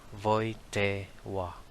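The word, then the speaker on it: Wojtyła: the pope is carol w is pronounced as v and l is pronounced as w that's why the family name of carol is pronounced as voite wa the parents might have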